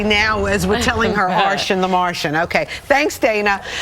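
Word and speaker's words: Arschin: It rhymes with Martian, right? I have to tell you, so that's what I've been telling everyone. I was teased when I was little, but Arshan the Martian is the best way to remember. The C is silent.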